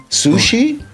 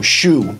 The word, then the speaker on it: Shu: They're like, know, they're like your name is Su- Su- see Shu- Shi? Sushi? Suzy?" So he's like, "No, Shoe. Just Shoe."